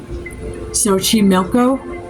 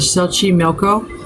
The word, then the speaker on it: Xochimilco: So just south of Mexico City, between the canals of, how do you pronounce that? Xochimilco? Yeah, this is off of Xochimilco.